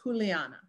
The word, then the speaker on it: Juliana: So if you say my name in modern Spanish, it's Juliana, right? But it wouldn't have been in the 16th century or older.